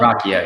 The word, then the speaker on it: Ruocchio: Uh so yeah, we're here today to talk about Empire of Silence by Chris It's Ruocchio, right? Christopher Ruocchio? Ruocchio, yeah.